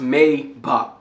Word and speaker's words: Maybach: It is not pronounced Maybach, it is pronounced Maybach.